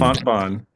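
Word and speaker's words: Fontbonne: Fontbon.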